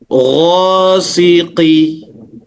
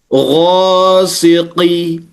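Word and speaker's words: غاسق: Jadi milti, sama seperti misalnya ghasiqi. Salah. Kenapa? Qaf kan huruf isti'la Ibu kan? Ya. Ketika dia berbaris bawah tetap ada karakter yang tebal sehingga cara membacanya ghasiqi, dengan menurunkan rahang bawah.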